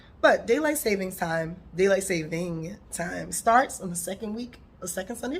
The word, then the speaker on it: daylight saving time: So ultimately, daylight saving time, which I learned we have been saying it wrong by saying daylight savings time, just like we normally do. We just add our own S to things just because it makes it sound better.